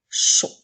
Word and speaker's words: chaud: Alors, nous avons tout d'abord le son « ch » et le son « o » qui s'écrit A-U-D. Encore une fois, la lettre D est une lettre muette puisqu'il n'y a pas la lettre E après pour la faire chanter.